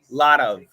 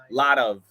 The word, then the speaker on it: lot of: L T OV and think of it not as a t but as a d but you have to say it fast and say lot of lot of lot of I hope that helps